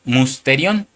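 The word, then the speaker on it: μυστήριον: Y esa palabra misterio, hermano, es la número strong 346. que se pronuncia musterion, que significa verdad revelada.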